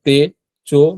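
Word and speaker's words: 手帳: তারপর দেখেন তে আবার যুক্ত বর্ণ, হ্যাঁ, চি ও, চিও, চিও, কিন্তু এটা চি উচ্চারণ হবে না, এটা চো হবে।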